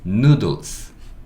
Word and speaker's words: noodles: 원래 이 S는 지금 복수형을 만들기 위해서 붙은 거고, 원래는 누들 이까지예요. 원래는. 근데 여기 이제 복수형을 만든다고 S를 갖다 붙인 경우이기 때문에 이 이는 묵음이 될 겁니다. 왜냐면 이로 끝나는 단어니까. 그래서 요 이는 안 보셔도 되고요. 누들 하고 복수형 만들겠다고 S가 붙은 거니까 S 소리는 달아줘야 돼요. S는 스. 그래서 이거는 noodles, noodles 이렇게 읽을 수 있고,